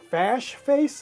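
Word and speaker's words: Fashface: one uh is from a company called uh fash face it's spelled f a s h f a c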